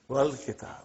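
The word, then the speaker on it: والكتاب: it is remember conjunction when it came in front of hamza vasal you did not pronounce you will say walkita but if i had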